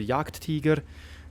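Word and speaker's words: Jagdtiger: at the octagon 88 some people said I should use the German pronunciation as I'm already true German - Swiss German so yeah what is going to happen to tanks like the Yak Teager those are the questions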